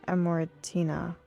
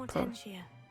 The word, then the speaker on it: Amortentia: Oh, yeah, it's Amortina. I don't know how to say it. Amortentia.